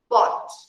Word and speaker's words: bought: You just say that as if you were saying bought like this. Look, as if you were saying B-O-T. Look, the pronunciation is like this. Look, B-O-T. And then you have this. This is the pronunciation, bought.